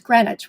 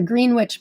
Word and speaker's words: Greenwich: It's Greenwich, which I know is how the Brits pronounce it. Um, in fact, the Green Witch by me, it bugs